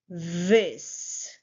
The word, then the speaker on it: this: You will put your tongue slightly between your teeth, turn your voice on, your throat will vibrate. Say v. Say it with me v, and then is. This. Say it with me. This.